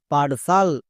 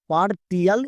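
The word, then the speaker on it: partial: টি এ আর পারটি আই এল সাল পারসাল। একে আমরা ভুল করে পারটি এল এরকম উচ্চারণ করবো না।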